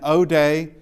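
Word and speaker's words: ᾠδή: O as in tone. This is the the harder O sound uh as opposed to on which is softer. This is tone and it is it is the the harder O and O day uh means song.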